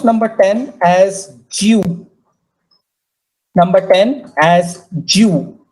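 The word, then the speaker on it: 十: Pronounce number 10 as Jew. Number 10 as Jew. You have to hear the sound of Y there.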